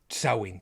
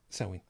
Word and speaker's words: Samhain: Hallows Eve, it is, I keep forgetting how to properly pronounce it. Apparently I've been saying it wrong all this time, the Wiccan version of it. Samhain, yes, thank you. Samhain.